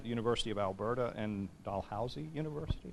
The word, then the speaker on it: Dalhousie: She has taught at the University of Alberta and Dalhousie University. Did I pronounce? Okay, good. Like a dollhouse.